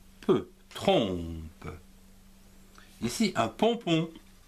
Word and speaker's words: pompon: Ici, un pompon. P, O, M se prononce pont et non pas pomme, P-O-N, pont, pompon.